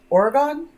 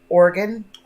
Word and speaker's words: Oregon: can say it right Oregon it's like isn't it like organ like your internal organs don't worry Beauty Babe